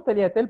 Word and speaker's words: tagliatelle: Bon, donc le mot tagliatelle, par exemple, s'écrit depuis des années avec un G et les réformateurs proposent de lui en enlever un, d'enlever ce G-là hein, à ce mot-là. Parce que déjà, on ne le prononce pas.